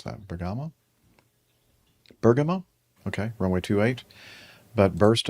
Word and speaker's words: Bergamo: How do you pronounce that? Bamama. Bergamo.